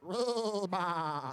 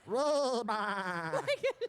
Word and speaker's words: Reba: Say hi to Reba Dominski from Target, but she told me to pronounce it Reba. What was that? Reba. Like a sheep, you know.